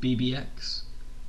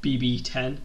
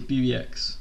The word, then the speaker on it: BBX: But that's going to be called BBX, and it's spelled BBX, and it's said like that, not BB10 like Roman numerals.